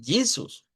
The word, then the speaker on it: Jesus: ¿Cómo suena entonces esta J? No suena como la J del español, suena entonces como I, vea, porque decimos Jesus.